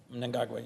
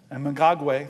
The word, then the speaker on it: Mnangagwa: And you always correct me on my pronunciation, so I'm going to try my best. Mnangagwa. Mnangagwa, yes. Mnangagwa, thank you, sir.